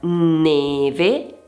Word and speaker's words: neve: due modi diversi, ovvero la e può essere e come per esempio in neve e e pertanto chiusa, oppure è come nella parola bello è.